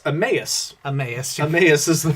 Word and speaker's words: Emmaus: yeah so we had to look up the pronunciation of this because i don't know why i've always thought it was um imal which sounds like a dyslexic cat having trouble um it's emmaus emmaus is the pronunciation but yeah i've always